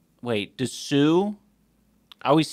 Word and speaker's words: Sioux: But I had always been told that the O-U-X is French. It is. And it's pronounced with the O sound.